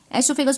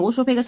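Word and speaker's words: oesophagus: एसोफेगस बोलते हैं। ओसोफेगस नहीं बोलते। ओई साइलेंट।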